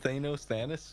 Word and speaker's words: Thanos: They called Thanos, but like not ironic. Like they legitimately called him Thanos. Thanos, dude. Wait, like Thanos, dude. Oh, No, shit. Thanos should not rhyme with anus, dude.